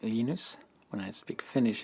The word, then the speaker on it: Linus: Linus or Linus? What's your preferred pronunciation? When I speak Swedish, it's Linus. When I speak Finnish, it's Linus. When I speak English, it's Linus.